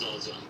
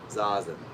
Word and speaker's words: Zazen: So first of all, it's pronounced Zazen. Zazen.